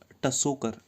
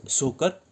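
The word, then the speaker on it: Tso Kar: इट्स नॉट टसोकर, टसो नहीं है, टी इसमें साइलेंट है, दैट इज सोकर वेटलैंड, ठीक है।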